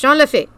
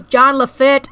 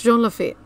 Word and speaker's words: Jean Lafitte: to be watching uh offhand Disney's videos he mispronounces it every time it is jean-lefeet it's not that heart he goes John Lafitte or John lefoot or John he does it like 20 000